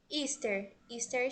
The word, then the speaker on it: Easter: tem um som de i então basicamente você pronuncia ister Sandy certo temos de Páscoa está indo